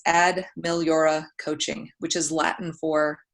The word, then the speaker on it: Ad Meliora: And for those of you playing along at home and wondering exactly how you do pronounce my business name, it's Ad Meliora Coaching, which is Latin for better things.